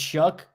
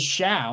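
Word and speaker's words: Shough: We're pronouncing it right. It's Shuck. I believe so. I believe it's Shuck. I thought it was Shao, like Eric Shao, the old pitcher for the Padres, but I no.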